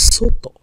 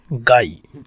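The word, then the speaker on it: 外: So the pronunciation of this kanji, here is soto, soto, soto, soto, and sometimes gai. Soto and gai.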